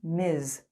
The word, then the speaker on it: Ms.: status is not important or unknown we use miz miss jones mis is the equivalent of mr